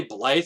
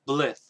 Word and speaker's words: Blyth: of blyth or blyth i used to say blythe just because of the y rule that the y makes it all a strong eye but apparently i've been corrected it's pronounced blith i mean how do